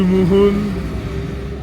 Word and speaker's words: Mouhoun: Il part même dans la boucle du Mouhoun, mon frère.